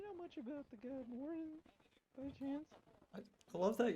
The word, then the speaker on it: Moradin: Moradin. Yeah, Moradin.